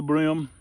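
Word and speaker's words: bream: pictures anyway those are the brim and it's spelled b-r-e-a-m by the way not b-r-i-m b-r-e-a-m it says that's the kind of fish that's known as brim in the south go back they will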